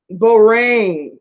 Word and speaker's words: Bourdain: Oh, pronounce rain. Bourdain.